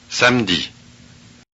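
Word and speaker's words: samedi: notice that the vowel e is not pronounced Sandy so the the spelling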